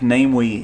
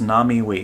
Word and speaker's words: Namewee: videos that we've done it looks like namely in english but i think it's pronounced nami so i apologize for the